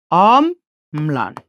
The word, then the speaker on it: অম্লান: এই ম না, তার সাথে আমরা সেই লটা যুক্ত করে দেব, অম ম্লান।